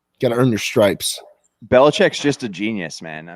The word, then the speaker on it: Belichick: Belichick. I always remember that South Park episode, like Billy Chick.